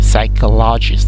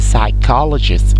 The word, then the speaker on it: psychologist: You know, here we don't pronounce the P starting this word.